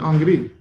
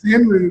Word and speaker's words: Henri: My name is actually Henri. Everyone says Henry, but it's actually Henri. Henri. It's spelled the French way.